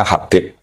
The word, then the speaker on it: Habib: Itu di harakatnya kitab itu ada yang nulis khubab. L yang benar. Oh, nggih. Yang benar itu bacanya Habib.